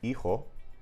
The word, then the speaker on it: hijo: So Spanish is very unique in this regard in that these sounds, they are all fuzz in other Romance languages, but they become silent sounds in Spanish.